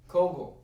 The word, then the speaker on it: Kogel: How do you say that? Cowgill, Kogel. Kogel.